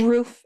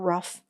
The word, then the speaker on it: roof: I don't like that it's roof it's not rough it's roof I may be saying it wrong too but they do